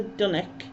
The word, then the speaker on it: dunnock: Now this is a dunnock. Dunnock rhymes with tonic, as in the tea cake, but yeah, and this was taken on my old camera.